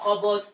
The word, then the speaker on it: cupboard: You say h it's not cupboard. It's not cupboard. This p is p is silent.